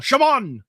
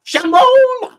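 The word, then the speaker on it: Chamon: It's often pronounced as an X in phonetic languages.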